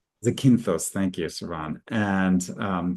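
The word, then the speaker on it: Zakynthos: So there's we're on an island which whose name I can't pronounce well. Zach Zak Zakinthos. Zakintos. Zakinthtos.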